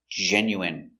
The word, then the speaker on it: genuine: So remember, the INE is pronounced in. genuine. Genuine is 100% real, not fake. Genuine. I prefer genuine leather. I don't like fake leather. I like genuine, real leather. Pronunciation, genuine. Je. Gen. Genu. Genu. Genu. Genuine. Genuine. First syllable, stress, genuine.